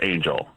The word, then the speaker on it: Anjl: Her name's Angel. It's spelled Anjl.